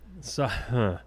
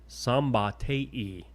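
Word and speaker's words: Szombathely: The Hungarian name is pronounced Oh, it's not as bad as it looks. Sambate. Sambate.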